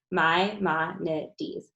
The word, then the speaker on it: Maimonides: Maimonides.